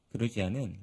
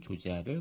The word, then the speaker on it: 조지아: 시작하기 전에 제가 잘못 얘기한 게 하나 있는데 그루지아는 러시아식 발음이었고 2008년 러시아와 전쟁을 했었다고 했잖아요. 그 이후에 조지아 정부는 영어식 명칭인 조지아를 공식적인 발음으로 사용하고 있습니다.